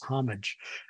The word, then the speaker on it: homage: I think if you look in the dictionaries, quite a few dictionaries will tell you that the American pronunciation is homage. And whereas you find, you pronounced it with an H as well. So homage or homage without the H, I think it has become much more common with younger American speakers today.